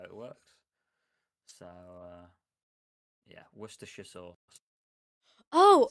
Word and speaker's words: Worcestershire: So Wor Worcestershire. Let's just to keep the peace. Worcestershire. Worcestershire sauce. You have like that same Cester in here.